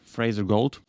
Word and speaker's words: Fraser Gault: the autoc captions on my today guest is Fraser gold hi am I pronouncing it right yeah and Fraser was an